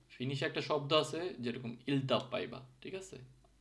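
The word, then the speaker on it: iltapäivä: যেরকম দুইটা ই কে যখন একসাথে সি, ই, ইর মতো উচ্চারণ হতে হয়। তো ফিনিশে একটা শব্দ আছে যেরকম ইলতাপ পাইবা, ঠিক আছে, আইলতা তো হয় না, যেরকম ই, আইটা ইর মতো,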